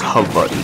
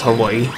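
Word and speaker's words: Hawaiʻi: I mean Hawaii sorry the proper way to pronounce Hawaii is Havi but we the rest of the world knows us as Hawaii so that's pretty much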